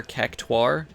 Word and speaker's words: Cactuar: I've also heard people say instead of Cactuar, Cactuar, like pronouncing the U.